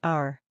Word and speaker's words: hour: It's silent in words like hour, honest, and ghost. For example, hour is pronounced our.